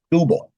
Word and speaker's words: Skubal: And how you pronounce it? Skubal. S K U B A L.